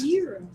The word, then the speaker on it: gyros: long time, and then Gyros Oh yeah. or gyros. They're Gyros. euros.